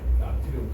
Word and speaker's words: 소듐: 나트륨, 칼륨은 독일식 발음이고.